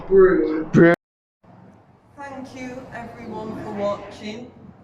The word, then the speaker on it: Brougham: the way quick kick quick correction you said brom it's actually pronounced broom thank you everyone for watching for those what